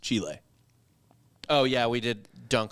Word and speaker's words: Chile: There is not a long E. It's not an EE or an LLY. It's an ILE, Chile.